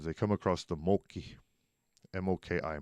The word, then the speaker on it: Moki: come across the Moki, M-O-K-I, Moki. Well, if you're from Prescott and you one of these fellas out, that's Moki with an I. By golly. Rhymes with Smoke Eye.